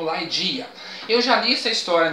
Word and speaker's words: Ligeia: No nome original o pessoal pronuncia como Laidia.